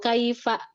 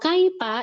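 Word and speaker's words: كيف: Misalkan alam taro kaifa bacanya alam taro kaifa. Fa fa jadi fa jadi pelan atau bahkan kaifa. Nah, kalau kaipa itu huruf P.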